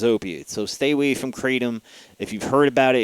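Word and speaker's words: kratom: um and it's fairly cheap too then there's katom this is bad stuff you might see some people recommending this online it's spelled k r a t o m this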